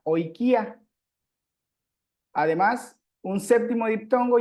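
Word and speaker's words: οἰκία: Luego, un sexto diptongo es la unión de la omicron con la iota. Ahí se formaría el diptongo hoy. Hoy, aquí está cómo se pronuncia, y lo encontramos en la palabra oikia.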